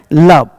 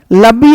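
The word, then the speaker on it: love: तरह करना है, और सीधे ई को हटा के बोलना है लब। लब्बी या लब्बे नहीं बोलेंगे।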